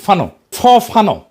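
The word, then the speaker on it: Fanon: ফরাসি আলজেরিয়ান চিন্তাবিদ ফানো নাম আসল উচ্চারণটা, উনি বলছিলেন, পরাধীন জাতিগোষ্ঠী লড়াইয়ের ভিতর দিয়ে নিজেকে চিনতে শেখে।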